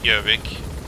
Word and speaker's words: Gjøvik: In Norwegian it's Gjøvik.